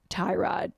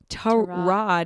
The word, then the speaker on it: Tyrod: But then in 2018, one of his teammates told a reporter that it's actually Tyrod, not Tyrod. Tyrod, emphasis on the rod and instead of Ty.